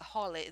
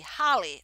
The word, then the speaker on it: holly: is easy yeah holly they don't say holy they say holly okay holly good job